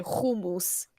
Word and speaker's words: hummus: my dad in Israel the way they pronounce it is like with a sound in the back of your throat so they say kumus it's kind of weird